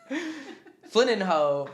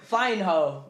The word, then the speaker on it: Flynninho: Flynninho, Flying Ho. Flying Ho. It's Flynninho. It's Flynninho. Flynninho, like Ronaldinho. There we go.